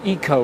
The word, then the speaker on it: eco: up again in Japan they often use the word Eco or Echo as they pronounce it here to describe energy-saving appliances